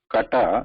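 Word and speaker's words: कट: Kata, the first letter here, ka, has to be pronounced with using the instrument Juffa Mula. So this is approximately somewhat equal to K. So I was talking with Uma a little bit earlier. So K in the English pronunciation has somewhat more breath in it, more air in it, whereas this should not have high air in it.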